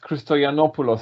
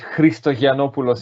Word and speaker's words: Christoyannopoulos: Yeah, Alex Christoyannopoulos, I think, would be in English. Christoyannopoulos, if you want to be Greek.